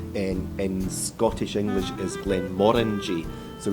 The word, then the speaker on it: Glenmorangie: in Scottish English is Glen Mori so we say it rhymes with the fruit Orange Glen and that's one